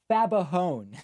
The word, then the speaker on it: Fagbahun: Oh, hold on. Fabahone. There we go. You gave a great effort yesterday, though. Fabahone. It's right there, and I was pronouncing it incorrectly. Fabahone.